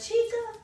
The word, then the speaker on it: Chica: And then Natasha, girl, is it a chica? Yes. That's hard to check on the name. Girl, how to say your name? Chica. Chica. Oh, just like it's spelled.